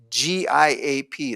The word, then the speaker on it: Giap: His name is G-I-A-P. It's pronounced Giap.